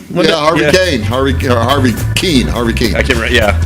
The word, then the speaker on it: Kuenn: Harvey Kuhn? Kane. Harvey Keene. I can't remember, yeah. It's spelled Kuenn, but Harvey Keene.